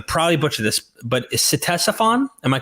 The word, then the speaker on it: Ctesiphon: butcher this, but is Ctesiphon? Am I correct in pronouncing it? Yeah, well, like Ctesiphon, I would say.